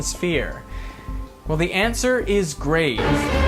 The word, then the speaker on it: grave: Well, the answer is grave. Or rather, grave, as it would have been pronounced in the original French.